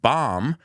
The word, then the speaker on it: bomb: I always tell people the way to remember the pronunciation of bomb my mom is the bomb so according to the